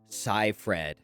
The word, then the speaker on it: Seyfried: marion davies as well safe ride seyfried i don't know how to say that it's pronounced amanda scifred apparently fincher had to